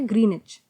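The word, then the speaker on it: Greenwich: through pass करती है इस में डब्लू साइलेंट होता है इसलिए इसका वर्णन सिद्ध होता है ग्रीन इंच ठीक है ग्रीन चौक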